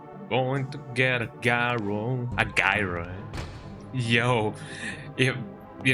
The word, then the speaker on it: gyro: Going to get a gyro. A groy. Yo, if you know I mean it is sprite mode. You can get a gyro or a gyro. Got him. Although it's technically pronounced gira.